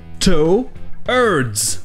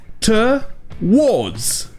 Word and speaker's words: towards: En anglais américain, le R se prononce. Ça donne towards, avec le R qui se prononce, towards. Mais par contre en Angleterre, le R ne se prononce pas. Donc c'est towards, towards.